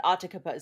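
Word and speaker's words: Atakapa: I looked up how to say it and it said Otakabas.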